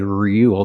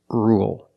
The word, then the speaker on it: rule: With rule, we don't say rule. There's no y. It's just ru, dark L, ul, rule.